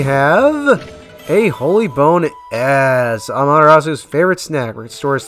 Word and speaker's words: Amaterasu: um amaterasu was it technically her name is pronounced amaterasu but i just say amaterasu because it's easier on the tongue well she's